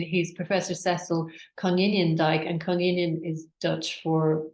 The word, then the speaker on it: Konijnendijk: This is my colleague Amy, is Dutch, so she was very helpful in the pronunciation. He's Professor Cecil Konijnendijk, and Konijnen is Dutch for rabbit, I think, which is similar to the Irish, which is quinine.